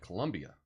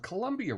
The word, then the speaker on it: Colombia: music now um anyway what's going on at Colombia hm what's happening at Columbia University you know what I spelled Colombia wrong shame on me I spelled it like